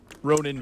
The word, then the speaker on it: Ronin: I like it um Ronin Vale so the advanced so do you say the word Ronin Ronin yeah like like a samurai guy yeah like I mean